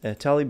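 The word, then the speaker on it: TA-Lib: the first one is Talib it's actually pronounced ta lib like this and you can find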